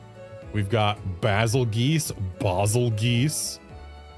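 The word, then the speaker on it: Bazelgeuse: And the pronunciation that's actually correct if you look at the inspiration for its name, Basiljuice. Like if you pronounce it anything other than juice, then you are wrong. Unless you're pronouncing goose, which is also acceptable.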